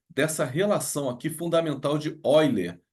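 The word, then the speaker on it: Euler: relação aqui fundamental de eiler apesar de se escrever eer se fala oiler número de vértices mais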